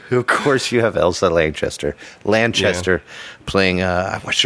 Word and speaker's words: Lanchester: plays is is Ela Lancaster who plays well actually it's Lanchester can't say Lancaster cuz she gets mad even in death right but um in